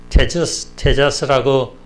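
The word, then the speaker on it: Tejas: 테자스라고 불렸는데, 텍사스를 스페인에서는 테자스라고 불렀습니다. 테자스 이제 비슷한 발음인데, 원래 이름이 테자스입니다.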